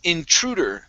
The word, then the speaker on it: intruder: This word here is pronounced intruder. The stress is right here.